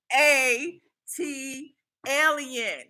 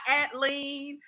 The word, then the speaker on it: ATLiens: ATO EMT 80 LEM how to pronounce the 80 Elliot a tee Elliot not at lean not at Lion a tee Elliot you